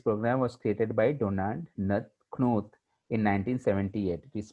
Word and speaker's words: Knuth: So this program was created by Donald Knuth in 1978. It is pronounced as Knuth.